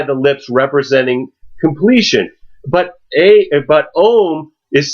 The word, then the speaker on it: Om: A metaphor for this is the word Om, which is often it's spelled A-U-M. But when you think about the sounds, okay, we look at ah, the sound. It starts at the back of the throat, and it represents the beginning.